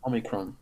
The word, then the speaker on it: Omicron: I don't think there's an N. Omicron. Oh, right, okay. There's no N. It's just Omicron or something.